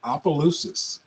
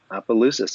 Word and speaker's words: Opelousas: Monica parish in Houston and he's originally from Louisiana Duras how do you say your hometown in Louisiana is pronounced Opelousas Opelousas I love that okay great welcome and last